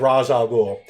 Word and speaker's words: Ra's al Ghul: so moving on we have weather however everyone pronounce it I've always said Ra's al Ghul so we have Ra's al Ghul Batman's mentor